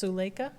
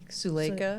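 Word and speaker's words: Suleika: So, it's the book of alchemy, a creative practice for an inspired life and it's pronounced sulea. Sulea.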